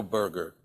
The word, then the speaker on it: Berger: over the world, Joe Berger, and that's spelled Berger. Okay, Berger, not like a hamburger, but it happens that my name's and he's Berger, so some people do call us Hamburger.